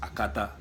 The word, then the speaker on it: Akata: The word Akata, which is supposed to be pronounced Akata.